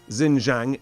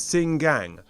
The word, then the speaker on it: Xinjiang: It's not Xinjiang, it is, according to Graham, and I'm going to try and hopefully get this right, it is Xinjiang.